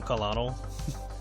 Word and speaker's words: colonel: I kept calling him colonel for the longest time until I realized that that was how colonel was spelled I was like what the why is Carl spelled like that it's like how did